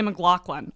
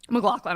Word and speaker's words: McLaughlin: Like, people for my last name will say McLaughlin all the time. Really? McLaughlin. I was like, No, there's no GH at all in there.